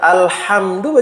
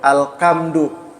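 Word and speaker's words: الحمد: Ya, rata-rata ditemukan ketika membaca alhamdu bacanya apa? Alkamdu. Ha berubah menjadi kaf.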